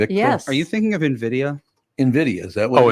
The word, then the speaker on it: Nvidia: Are you thinking of Nvidia? Nvidia, is that what Oh, it and is? Nvidia. Yeah, Nvidia. Yeah, he Yeah, pronounces it Nvidia, but that's actually technically Nvidia.